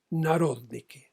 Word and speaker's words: Narodniki: papel la palabra siguiente: Narodniki. N-A-R-O-D de dedo, N-I-K-I con acento en la O.